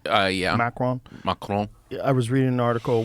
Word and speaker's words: Macron: Macron.